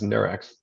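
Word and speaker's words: Nurx: Never knew how to pronounce it, but I guess it's Nurex. You did it right.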